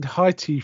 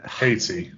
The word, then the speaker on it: Haiti: Um, but then Sir James works out that the squire lived in Heighti for how do you say I never say Haiti Haiti Haiti for a few years and